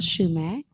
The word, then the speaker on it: Schumack: We also have Miss Shumack. I'm Shumack on social media, Shumack Realty Group. It's spelled SCHUMACK and then Realty Group.